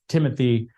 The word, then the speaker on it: Thimothy: as Dr friends said my last name is Timothy uh it's spelled with an H it's